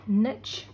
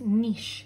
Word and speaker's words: niche: most american tv shows this word is not pronounced niche it is pronounced niche link quiche okay so a niche is a